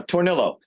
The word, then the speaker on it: Tornillo: name right by the way how do you pronounce it uh tornillo okay yeah until he goes like you know